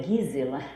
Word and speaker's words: Gisela: Então, Gisela, em alemão, se pronuncia Gisela.